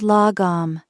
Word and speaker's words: lagom: The second concept is lagom, pronounced lagom.